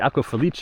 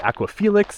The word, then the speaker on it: Aqua Felice: I've been calling it the Aqua Felix, but really in Italian it's the Aqua Felice. The Aqua Felix is the Latin name, I think.